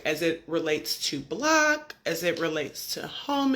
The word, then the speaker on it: BLCK: block and that's correct it's pronounced block So it's b l c k no o and I like to